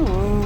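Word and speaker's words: Å: dans la ville de A, qui se prononce en fait O, comme la dernière lettre de l'alphabet norvégien, car c'est la dernière ville de l'archipel des Lofoten.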